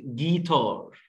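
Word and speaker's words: guitar: عندي كلمه جيتار جيتار حد هيقول لي هنا حرف اليو لا بننطقه اه ولا يو باسمه ليه لان جي ورا اليو بنطقش اليو خالص ج ج الجي وبعدين الاي ج جيتار والاي مع الار بتعمل ار جيتار طبعا معروف الجيتار بعد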